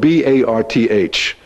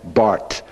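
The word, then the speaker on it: Barth: His name is spelled B-A-R-T-H. And in German, you don't pronounce the H. It's the hard Bart, Karl Bart.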